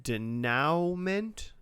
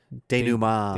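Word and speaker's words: dénouement: The finale is called Denouement. Denouement.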